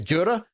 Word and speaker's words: Jura: I think that's how you say it, Juri. It's Jura.